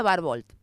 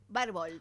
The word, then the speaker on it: Barbault: Se pronuncia Barbolt. Barbolt porque se escribe bueno, pero se pronuncia Barbolt.